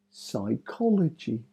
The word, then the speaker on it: psychology: s psyche psycho Pudo psychology psychosis p s first letter is silent s Psy psycho pseudo psychology